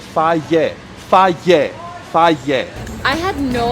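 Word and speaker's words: Fage: every comment was like, you're saying it wrong. It's faye. And I was like, phage? Faye? You used to call it phage?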